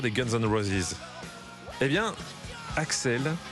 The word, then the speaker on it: Axl: Guns N'Roses et bien Axel Axel rose ça s'écrit Axl Axel Axel rose histoire et